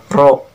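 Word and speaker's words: ρ: Nah, ini tuh dibacanya adalah rho ya.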